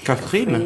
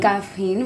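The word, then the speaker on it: Kaffrine: It's what they call, Axel, can you help me to pronounce it? Kafrine. Kafrine, voilà.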